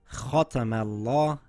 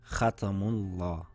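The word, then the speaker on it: ختم الله: For example, the letter Mim should be pronounced thin even though the Laam is being pronounced thick. So it should read Khatamallah and not Khatamullah.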